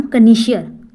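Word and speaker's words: connoisseur: तो उस पर्सन को क्या कहेंगे, जो मतलब फूड का स्पेशलिस्ट हो, उसे कहेंगे हम कनीशियर, CONN, इसका स्पेलिंग देख लेना गाइज, कनीशियर, CONN OISSEUR, कनिशियर। ठीक है।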